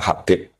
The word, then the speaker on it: Habib: Itu di harakatnya kitab itu ada yang nulis khubb. L yang benar. Oh, nggih. Yang benar itu bacanya Habib.